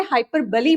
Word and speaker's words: hyperbole: तो आपको इसे हाइपरबली बोलना है, इसका प्रोनाउंसिएशन.